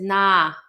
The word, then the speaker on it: Nahm: Is nah. So it's spelled Nahm, but it's pronounced nah.